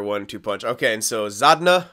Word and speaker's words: Zadina: Okay, and so Zadna, I guess his name, and I was pronouncing it Zadina or whatever. Zadna, that's his name.